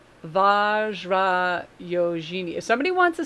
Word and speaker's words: Vajrayogini: It's like, and I don't want to call her Vag because that's I think it's Vajrayogini, because J is usually the J. It's not like a G. So Vajrayogini.